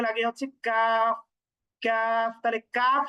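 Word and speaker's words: ق: তাহলে কাফ সহজ, কিন্তু কফ একটু জিহ্বার গোড়াটা উপরে তালুর সঙ্গে লাগাতে হবে। আমরা কথা বললে সাধারণত জিহ্বার একেবারে পিছনের অংশটা তালুর সাথে লাগে না, যখনই একটু জোর করে ওই কলকলার উচ্চারণের মতো করে লাগাতে যাব তখনই কিন্তু কফ এটার উচ্চারণ হবে।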